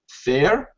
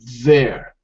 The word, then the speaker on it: there: we say fair fair now we don't say fair because to use the voiceless th sound it doesn't make sense it doesn't sound right so we have to use the voiced the voiced th sound which is there there yeah you see the